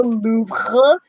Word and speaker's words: Louvre: Obviously, there's the Louvre. You gotta say it like that, otherwise you're not really a true Parisian.